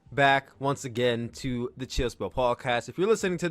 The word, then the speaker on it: Chill Spill: We're talking about that all here and more on this, the 37th edition of the Chill Spill podcast. The S is silent, by the way.